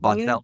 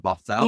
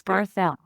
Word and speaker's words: Barthel: Not Barthel, but Barthel. You got it. It's Barthel.